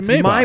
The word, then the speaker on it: Maybach: out that rappers are pronouncing that car wrong, too. Excuse me? Maybach music? It's a Maybach.